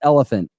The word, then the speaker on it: Oliphant: us us the clarification it is pronounced elephant elephant I think it's Oliphant like elephant that's what he's saying